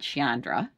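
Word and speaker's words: Sciandra: was real mob royalty her family was the skiandras from pittsburgh pittston pennsylvania right so my mother they pronounced it chandra was from pittston her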